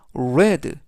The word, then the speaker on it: read: 하지만 발음 은 다릅니다 . 기본형 은 "read" 이지만 , 과거 분사는 "red" 라고 발음 합니다 .